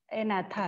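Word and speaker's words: Agnatha: First one इज जी is silent here, एनाथा है, ठीक है।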